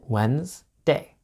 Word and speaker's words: Wednesday: you probably notice that we don't pronounce Wednesday how it's spelled we pronounce it Wednesday but it's spelled wedness